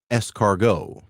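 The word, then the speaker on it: S-Cargo: on audio a nissan it's called an s dash cargo but it also looks like a snail so you pronounce it escargot and this one even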